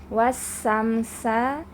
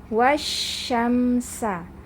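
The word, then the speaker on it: والشمس: Sin jangan tertukar jadi jangan sampai dibaca wasamsa wasamsya ya tapi membacanya wasyamsa seperti itu membacanya jadi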